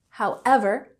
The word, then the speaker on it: however: So next we have, however, with emphasis on the second syllable, however, and we use this to introduce a statement that contrasts with something that we just said before.